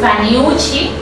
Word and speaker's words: Vanhiussi: una parte para que nadie tenga errores al pronunciarlo, pero realmente mi nombre es Vanyushi.